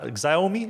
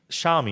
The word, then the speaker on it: Xiaomi: I thought a quick note on is that zomi is that how you pronounce that shiai xiaomi xiaomi you're right xiaomi so xiaomi came out